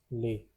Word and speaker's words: lait: Pronunciation is lait.